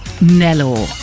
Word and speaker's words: Graham-Nellor: Do we pronounce it Nellor? Nellor.